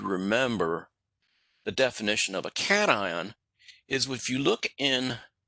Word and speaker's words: cation: positive ions we call cat ions it's not pronounced CS it's pronounced cat ion like a cat and an ion cat ions are positive